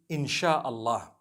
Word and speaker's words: insha Allah: s-y-a they pronounce it they pronounce the s y the way we pronounce s h so they can write